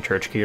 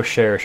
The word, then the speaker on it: Cherche: to the top and they're pronouncing Church key wrong all this time I am absolutely pronouncing it wrong it is not Church key I just say Church key because it it's distinct from the other pronunciations which I don't like very much I know cherche is probably the correct pronunciation I just don't particularly like it we pulled way more